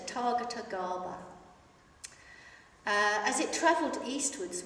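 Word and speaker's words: Tathāgata: known as Tatar Gara it took me a long time to learn how to say that and in fact I've just been told I've been saying it wrongly for a long time so to Target Gara uh as it traveled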